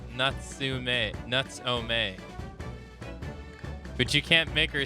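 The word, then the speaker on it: Natsume: She's teaching you how to pronounce his name. Nuts-o-may.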